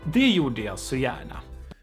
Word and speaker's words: det gjorde jag så gärna: To thank you is to say det gjorde jag så gärna. Det gjorde jag sang, ja. Way to respond to thank you is to say det gjorde jag så gärna. Det gjorde jag så gärna.